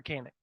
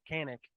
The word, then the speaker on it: Kanak: But yeah, look, let's talk about Jaren Kanak or Kanak, however you want to pronounce it. It's Kanak, but everybody calls him Kanak.